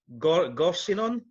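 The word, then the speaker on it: Gorseinon: town in swansea called now am i saying this right got seen on is how you pronounce it um it's a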